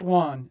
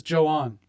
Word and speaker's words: Joan: Now, not Juan and not Joan, spelled like Joan, but that's Brit's mom. This is Joan.